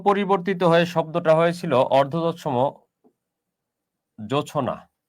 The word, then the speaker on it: জোছনা: এটা থেকে সামান্য পরিবর্তিত হয়ে শব্দটা হয়েছিল অর্ধতৎসম জোছনা। এটার উচ্চারণটা যদি আপনি করেন, এটার উচ্চারণটা কিন্তু এরকম, জো ছো না, উচ্চারণটা হচ্ছে এটা।